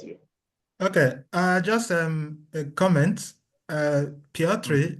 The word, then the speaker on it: Piotr: Piotr is Polish, and his name is pronounced as Piotr.